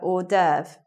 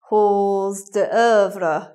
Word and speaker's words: hors d'oeuvre: d'oeuvres singular hors d'oeuvre right doesn't sound anything like the way it's written there if you didn't if you haven't seen that word before written down you could get it wrong you might say halls d'oeuvre can I have some pause the vlog please and that wouldn't sound like you knew what you're doing in the restaurant it should be hors d'oeuvre or hors d'oeuvres and last name let's